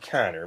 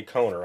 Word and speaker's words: Kohner: Well, I pronounce it Connor. Maybe you say Coner. I don't know.